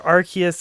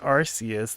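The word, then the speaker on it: Arceus: am I supposed to or archus and arus that one's probably the number one debate since they've officially pronounced it both ways quaza Rayquaza which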